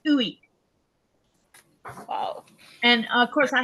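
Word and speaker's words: ueq: Yeah, and it's pronounced Uik.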